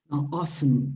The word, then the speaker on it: often: um often or often often t is not pronounced okay there are some some people in the united states not in northern britain that tend to pronounce t but is not very well regarded yeah okay so people